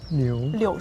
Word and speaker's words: 柳: of about Velos because do you know like the Chinese pronunciation of Velos? I don't know. It's 柳 Liu. 树 Liu Shu. Oh. and it sounds similar to the stay in China.